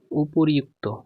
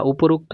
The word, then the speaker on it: উপরিউক্ত: এই শব্দটা হবে উপরি, উপরিউক্ত, উপরি উক্ত। মনে রাখবা উপরি প্লাস উক্ত, উপরিউক্ত। আমরা যে বলি না উপযুক্ত, হুম, বা উপরোক্ত, এগুলো উপরোক্ত গুণশব্দ না, এটা হচ্ছে উপরিউক্ত, উপরিউক্ত, উপরিউক্ত।